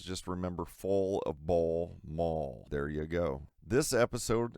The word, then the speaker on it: Mall: Yes, my last name is pronounced Mall, not Moo, like some people try to pronounce it. I'm not sure how you get the U-L-L wrong.